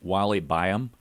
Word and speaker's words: Wally Byam: It says, in 1929, Airstream founder, and correct me if I mispronounce his name, Wally Byam.